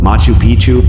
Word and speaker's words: Machu Picchu: that as well foreign Machu Picchu Peru when a place rhymes with picture you can almost bet